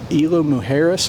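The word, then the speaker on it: Isla Mujeres: Um, my wife and I have found this island off of Cancun called Ilo Muharris, I think is how you say it.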